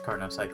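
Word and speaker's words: Carnot cycle: I think it's carnocycle. I might be thinking of something else though. Uh let's check. Carnos cycle. Uh ideal thermodynamic cycle French physicist Sadi Caro. Ah yes so I was pronouncing it right.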